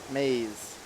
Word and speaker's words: Mays: Aaron Mays, I don't know how to spell her last name, but phonetically it doesn't look anything like Mays. So I'm glad I asked her, but it's pronounced Mays.